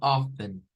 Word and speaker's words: often: vamos a ver que la pronunciación es bien curiosa porque resulta que hay una consonante que no va a sonar pero sí es escribe y ya seán dado cuenta que lo que no suena aquí es la t y hay varias formas de pronunciar miren es algo como of Ah como eh está esta que es con el often como la f aquí y la la e n al final que es la cha estáa